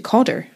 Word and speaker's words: Cawdor: calder oh yeah but the name was changed by lord john campbell who changed the name of everything basically overnight to codder and codder is closer to the english pronunciation of calder i wondered if that